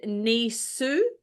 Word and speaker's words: Nisse: These are the Scandinavian, and you say this Nisse, which is said Nisu, which is in Denmark and Norway, and Tomte, which is said Tomtu in Sweden.